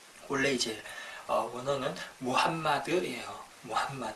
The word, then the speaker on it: 무함마드: 추천 어 마음엔 트라고 하는데 이 표현은 잘못된 발음 이구요 약한 영어식 빵 바탕 때 올래 이제 언어는 무함마드 일이에요 왐마 드 어 그래서 우리 이제 어